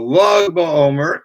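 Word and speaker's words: Lag BaOmer: 33rd day of the Omer, that's what's called Log Ba'omer, because in Hebrew, Lamed is, you want to write 33, you'd write Lamed Gimel, which is pronounced Log. So Log Ba'omer, the 33rd day of the Omer, is always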